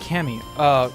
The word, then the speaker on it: Camus: Not trying to be an ass, but Camus is pronounced Camus. Camus. Oh, Camus.